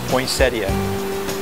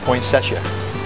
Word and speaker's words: poinsettia: I've always grown up to calling it poinsettia, but if you want to go by the way it's spelled poinsettia, not poinsettia, okay?